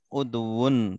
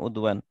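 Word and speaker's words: عضو: Ini kan udwun bacanya, bukan udwan.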